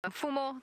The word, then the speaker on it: Mfumo: But the male's name, M-F-U-M-O, for our new viewers, M-F-U-M-O, Mfumo. Mfumo is the name of this particular male. So Mfumo, the authority.